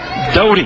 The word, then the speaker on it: Doty: That's Ethan Doty, I believe is how you pronounce it.